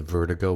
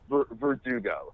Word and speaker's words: Verdugo: fun and that's at the Vertigo bar Verdugo yeah yeah Californian pronunciation you have a YouTube